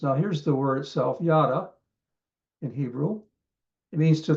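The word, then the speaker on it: ידה: Here's the pronunciation. Yada.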